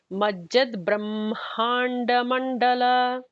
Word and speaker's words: Majjad Brahmanda Mandala: So the emphasis is going to be on that ma kind of syllable there. So it would be Majjad Brahmanda Mandala.